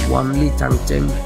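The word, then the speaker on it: 万里长城: যার চীনা উচ্চারণ হলো ওয়ানলি চাংচেং।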